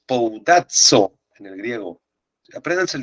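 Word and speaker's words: σπουδάζω: bondadzo en el griego Esta es la letra Sigma es como una s Esta es la pi que se pronuncia como P S poudazo en el griego aprendan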